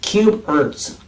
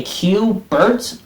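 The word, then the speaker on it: CUBErt: So I guess they wanted to spell it Cube Urts. So not like a cube Bert, not like that name, but it's just like C-U-B-E and R-T with the lowercases on it.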